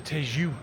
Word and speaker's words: Tejo: Or should I actually say the Tejo River, as I know as I now know how to correctly pronounce it in Portuguese.